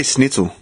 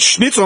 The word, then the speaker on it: Schnitzel: so I say snitel I grew up saying snitel and that's the way how old that's how how my parents said it but and when I first heard it Schnitzel I'm like that's how you say it's like yes it